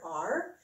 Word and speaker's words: are: letter a and then at the end we just have the random silent e that's not doing anything just like style and ease always do they just go out of danbo word and don't even say anything so when when you